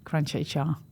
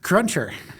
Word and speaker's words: Crunchr: market perfect bridge to talk about your company crunch HR yeah cruncher cruncher I pronounced it incorrectly well there's many ways you